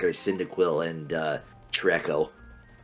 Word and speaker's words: Treecko: post-Gen 1 that I like are Cyndaquil and Treecko. Trico, actually, is how you pronounce that.